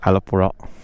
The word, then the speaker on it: Alappuzha: Changeri and then uh Alapi or maybe Alapura that is uh how they pronounce it in uh the local language.